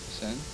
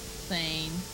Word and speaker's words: Seine: Seine. Yeah. That's our thing in the Huh? When? Today? No, just in the past. I knew I was pronouncing it wrong. That's how I pronounced it. Sane. Yeah. Seine.